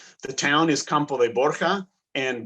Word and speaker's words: Borja: town is campo de borja and borja is the spanish pronunciation of borgia you may have heard